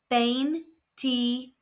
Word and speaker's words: veintitrés: are pronounced E and there is an accent on the last E. So the stress falls where the accent is on the last syllable.